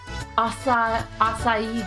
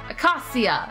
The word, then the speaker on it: Acacia: That boy is your sweet Glenn, a member of the Asai Dragoon. That's not how you pronounce that. Acacia Dragoons. Pretty popular with the people here.